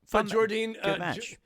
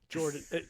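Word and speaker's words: Jordynne: I think I am it's Jordine right that's how I say Jordine I think I think I hear I've heard other people pronounce it Jordine Grace too and it's just I you know I think again lazy American fans just trying to make it Jordan um but I like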